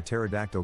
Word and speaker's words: pterodactyl: can't you hear a pterodactyl go to the bathroom because the p is silent a couple of cows